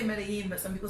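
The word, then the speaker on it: Medellín: No, I think the double L always trips me up because like I say it like a Y, but some people say it like a J.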